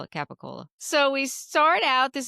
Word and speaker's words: capicola: That's We call it what- Capicola.